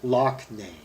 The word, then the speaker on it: Loughnane: Oh, pronounced Loughnane.